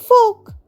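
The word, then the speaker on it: folk: শিক্ষক চক দিয়ে লিখছেন এফ ও এল কে ফোক। ফোক মানে লোকজন বা জনগণ। এখানেও কিন্তু এল এর উচ্চারণ হচ্ছে না।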